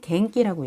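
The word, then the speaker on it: 元気: 원기라고 써 있는데 이거는 갱기라고 읽어요. 갱기.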